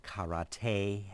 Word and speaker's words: karate: Actually, it's pronounced karate, and there's a lot more to it than just kicking each other.